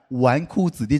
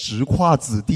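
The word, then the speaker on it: 纨绔子弟: It took me three years to finally understand the meaning of the word "wánkù zǐdì" (playboy). It's not pronounced "zhíkuà zǐdì," you know?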